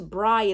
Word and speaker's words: Bri: Also, it's Bri, it's not Brie, even though it's spelled Bri. That's annoying. It's Bri.